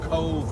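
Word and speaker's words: Cobh: town deep in the south of ireland called cove which is spelled c-o-b-h where it's pronounced the english way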